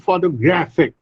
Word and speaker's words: photograph: Now look at this series of words: photograph, photograph, photographer, and photographic. Now see, photograph. This is the word photograph. The stress is on the first syllable.